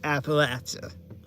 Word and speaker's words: Appalachia: I have to tell a lot of people how it's pronounced. Because with our accents, it's Appalachia.